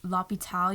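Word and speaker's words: l'hôpital: unclan magazine department store h is silent so if you're saying the hospital you'd say lopital you do the l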